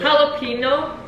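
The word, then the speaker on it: jalapeño: no but that's how you say it it's jalapeno jalap how it's actually supposed to Beal if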